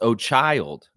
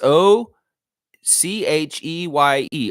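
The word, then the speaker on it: Ochai: Pronounced O'Child.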